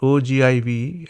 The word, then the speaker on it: ogive: So you pronounce this ogive as ogive, and then you take this less than ogive also.